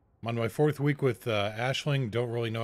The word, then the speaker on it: Aisling: etc and yeah that's how that's how it's pronounced Aisling so you would go to here one of